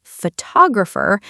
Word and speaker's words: photographer: We say photographer but photography. The stress changes.